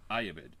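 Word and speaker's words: Ayyubid: Ayabid made the strategic decision to destroy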